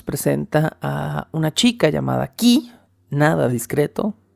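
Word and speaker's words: Kee: Se estrenó un 25 de diciembre, pero la trama nos presenta a una chica llamada Key, nada discreto, se escribe K-E-E, pero se pronuncia Key como llave en inglés, ella es la llave, y Theo Thelonious, que es el nombre completo del protagonista.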